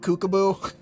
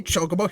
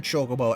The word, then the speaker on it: chocobo: that also reminds me i used to pronounce chocobo like kookabu yeah not only did i